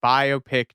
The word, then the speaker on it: biopic: I just saw someone being like a semi-viral tweet that was like, biopic doesn't rhyme with myopic. Oh. Because it's biographical picture as Well, opposed that to- makes sense.